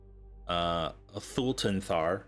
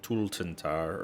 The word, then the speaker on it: Thultanthar: When Vokudu talked about the floating city that was in the Shadowfell, Thultanthar, as we recall, he pronounced it Tultantar, or whatever the hell it was, that had crashed.